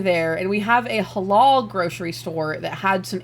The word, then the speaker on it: halal: Halal. Yes, that's how you say that. Yeah, it's what it says on the sign. It's halal.